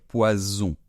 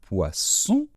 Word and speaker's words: poison: vénéneux dangereux et bien on va dire poison et cette fois-ci on laisse davantage passer l'air hein dans ce s là c'est Z c'est ce qu' on appelle un S sonore Z on peut faire un peu comme la mouche et on peut le faire très longtemps alors que l'autre nom d'accord donc poison donc je répète le premier un poisson et le deuxème un poison donc j'espère que cette